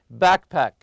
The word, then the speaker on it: backpack: on the first part also backpack backpack always stress the first part keep your sunglasses and